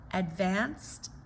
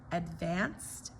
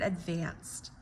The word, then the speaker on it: advance: But if you reduce it down to a schwa, where the first syllable can be reduced, and then the second one is the main stressor, advance, advance, advance.